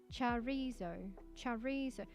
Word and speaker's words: chorizo: Chorizo. It's like the end it has like ZOW to say it. Chorizo.